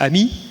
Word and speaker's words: AMI: Ami Advanced machine intelligence we actually pronounce it Ami because that means friend in French um and there's a